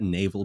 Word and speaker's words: Naval: check him out yeah so it's like a naval base except you say his name is naval okay yeah so i'm